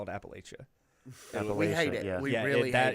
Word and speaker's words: Appalachia: us off yes so call call it Appalachia and not Appalachia oh if you if